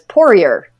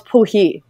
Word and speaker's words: Poirier: her last name is what we say in America is Poirier, which is P-O-I-R-I-E-R, which I'm sure in Canada is pronounced differently because of the French. But she was like, no, it's Poohee.